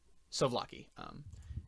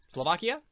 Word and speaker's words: souvlaki: So he has a plate of it in his hands, and he says, Slovakia. But is it Czech? Yeah. It's Souvlaki. I said it wrong. It's not Slovakia, it's Souvlaki.